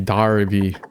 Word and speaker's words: Derby: This looks British e can be pronounced like derby darby berley barley.